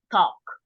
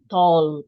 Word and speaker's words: talk: this combination for example talk you know okay talk we don't say tall we don't pronounce the L neither right and Poco so